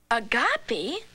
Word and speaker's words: Agape: a gap land oh that's pronounced Agape land agapy that's a funny word